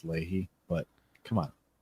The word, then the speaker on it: Lahey: Which I know is rich coming from a guy whose last name is spelled like Lahey, and it's Lahey.